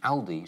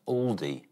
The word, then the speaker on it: Aldi: According to Germans, Britons have been saying the budget German supermarket name wrong, and the Al in Aldi should be short and sharp, like Al Murray. It's frequently mispronounced Aldi by British shoppers.